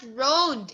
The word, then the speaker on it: round: Oh, it's not round. It's round. Again. Round. Yes. Round. Again. Round. Oh, you have to pronounce the letter N and letter D.